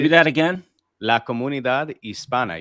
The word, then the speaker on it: Hispana: La Comunidad Hispana. You don't pronounce the H. And don't make it Hispania. There's no tilde on the N.